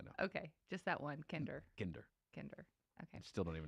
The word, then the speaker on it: Kinder: right, Kinder?